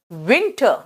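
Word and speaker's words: winter: विंटर कहते हैं ना किस your W एंड बाइट your वीज डब्लू डब्लू है ना यहां पे विंटर देख रहे हो किस कर रहे हैं विंटर और जब वी बोलोगे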